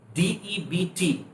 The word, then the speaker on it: debt: बाद अगर बी आता है तो बी को साइलेंट रखा जाता है, इल्यूट कर दिया जाता है। प्लमा, प्लमा। Date, DEBT, debt, and the person is called debtor, not debtor, debtor.